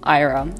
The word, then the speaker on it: Ira: Anyways, Merle, Althea, Hugo, Ira, or Ira, as I've heard some people pronounce it.